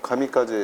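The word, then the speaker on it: 神風: 우리가 전에서 가미카제 얘기할 때 원래 신푸라고 읽는 거를 신푸는 가미카제를 음독, 했다. 가미카제는 훈독입니다. 훈독.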